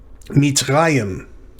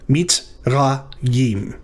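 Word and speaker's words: מצרים: This is the reish with a pathach under it, ra. And then the third syllable is yim. Mitzrayim.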